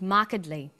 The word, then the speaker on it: markedly: But when you come across longer words, you have to learn which syllable to stress. For example, we say intelligent, increasing, and markedly.